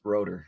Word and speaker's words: Roetter: going thing I guess nobody knows but it's rotor rotor that's what I thought yeah I like but then people just started saying rotor and broke like so bro bro enter yeah